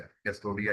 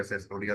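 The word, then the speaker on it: Cestoidea: वो हमारे पास है कैस्टोडिया या सेस्टोडिया, दोनों ही प्रोनाउंसिएशन ठीक है।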